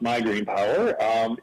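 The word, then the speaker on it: MIGreenPower: to talk about it my actually pronounced migraine power is a voluntary renewable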